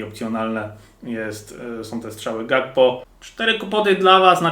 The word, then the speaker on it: Gakpo: typowa ale zatym g każdy mówi inaczej na niego najbardziej mnie śmieszy Szpakowski jak go wymawia Jest to błędne Mimo wszystko ja wymawiam gakpo tak jak się pisze i mam wyrąbane Jak